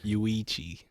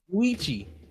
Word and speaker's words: Yuichi: Yuichi. Yuichi. I keep saying Yurichi like it's One Piece or something.